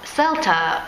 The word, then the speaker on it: CELTA: you should have the CELTA course, something that I did 3 years ago. So CELTA, or as some people call it CELTA, because different people, different pronunciation, is a very intensive